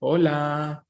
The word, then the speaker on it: hola: then we have in in Spanish the letter H is silent always so you say Orlando that's why you say hola okay Orlando you have